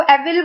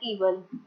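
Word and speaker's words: evil: इसको एविल बोलते हैं कुछ लोग, बट इसको ईवल, इसकी राइट प्रोनाउंसिएशन है ईवल।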